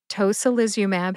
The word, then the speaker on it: tocilizumab: Tocilizumab has five syllables.